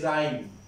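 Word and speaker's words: rhyme: এরপরে আমি উচ্চারণটা নিচ্ছি রাইম, রাইম, তাহলে রাইমের সঠিকটা আমি লিখে দিচ্ছি আর এইচ ওয়াই এম ই, রাইম।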